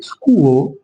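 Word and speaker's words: school: بص هنا حرف الاس هنا حرف السي اتش ج مع بعض الاتش ده مش هتنطق فهنا هقول سكول سكول يعني المدرسه طب احنا عارفين هنا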